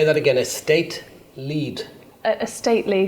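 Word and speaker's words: Estately: again a state lead a stately so it's spelled estate ly well it's stately yeah so e-s-t-a-t-e-l-y yes Property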